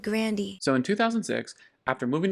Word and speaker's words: Grande: I found out that AR a grande his last name is pronounced like Grandy my grandpa said Grandy so in 2006 after